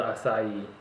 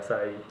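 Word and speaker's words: açaí: I don't smell the acai at all. Oh, is that how you pronounce that? Yeah, acai.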